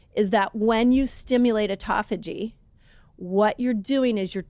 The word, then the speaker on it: autophagy: way of saying it people say either call it um autophagy or autoag people say it different you tell I said it wrong I kind of landed on autophagy I feel like autophagy is the best way to say it autophagy fasting what's that